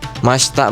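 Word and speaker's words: ました: Masta bacanya masta.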